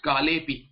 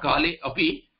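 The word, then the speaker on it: कालेऽपि: You cannot pause between the sandhi letters.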